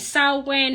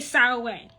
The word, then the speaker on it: Samhain: And Samhain has three pronunciations. There are three ways to say Samhain. Samhain, Samhain, and Samhain.